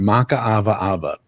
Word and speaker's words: Makaawaawa: And I want to take a moment and just introduce everyone to my guest this week, Makaawaawa. It took me a while to figure out how to pronounce that, but I got that right?